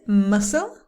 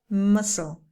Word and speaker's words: muscle: yearn yacht jet yet the next one is muscle the sea is silent muscle the next one can't be careful with this